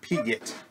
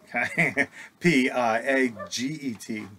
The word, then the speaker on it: Piaget: Here in Texas, it would be Jean Piaget, P-I-A-G-E-T, Piaget.